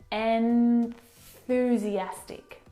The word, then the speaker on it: enthusiastic: your teeth and and the tongue must come out through the middle of your teeth if you don't you will mispronounce this word and you'll say n enthusiastic or enthusiastic instead you need to say en and see how I'm breaking that down for you enthusiastic enthusiastic enthusiastic now